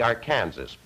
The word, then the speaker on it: Arkansas: I should say the Arkansas there's quite a bit of discussion as you know as to how that river is to be pronounced uh the how that name is to be pronounced a number the Coloradoatans call it the arc Kansas by the time it